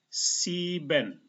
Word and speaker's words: sieben: Seperti ini tadi I dan E. E-nya tidak dibaca tetapi I-nya dibaca panjang. Sieben itu artinya 7.